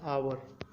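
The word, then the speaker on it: hour: हावर का जो एच होता है वो साइलेंट में होता है। अगर हम इसे पढ़ते हैं हिंदी में तो इसे हम इस तरीके से पढ़ते हैं, आवर।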